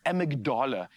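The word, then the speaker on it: amygdala: What about the amagdala? I hope I'm pronouncing that correctly.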